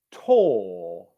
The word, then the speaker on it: tour: However, you may also hear this word being pronounced tor, which is T plus long English vowel sound. Okay, so very often in English these days, you will hear words that used to be pronounced with the ua diphthong being pronounced with the or vowel, long vowel sound instead.